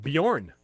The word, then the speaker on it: Bjorn: it no that's like Bjorn it's got a J in it so it's kind of a silent J yeah exactly we have